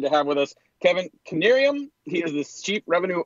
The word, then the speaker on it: Knieriem: today very excited to have with us Kevin canarium he is the chief Revenue officer for clar